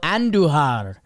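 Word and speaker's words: Andújar: Roll your R's with Miguel Andujar as he's back for the Athletics.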